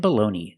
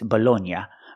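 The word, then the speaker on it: bologna: two words, baloney and baloney. They're pronounced exactly the same. This is American English. I know in Italian it's bolognia, but this is not Italy. This is America. we say baloney.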